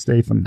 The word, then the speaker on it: Statham: Oh, is that how it's pronounced? It's pronounced Statham. Okay. Actually, Statham. I put an R in there.